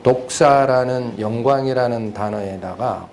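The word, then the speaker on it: δόξα: 지나 그것은 영광입니다 0과 이 영광 이라는 단어는 펠라 으로는 복사 이렇게 발음이 됩니다 도크 싸 그리고 그 영광을 찬양하고 거나 하는 글 기도 또는 찬양 송 노래 이런 것들을 그 독사 라는 영광 이라는 단어에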